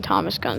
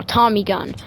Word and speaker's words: Tommy gun: I know some of you going to get mad at me for saying Thomas Gun, so I'm going to say it right now. Tommy gun.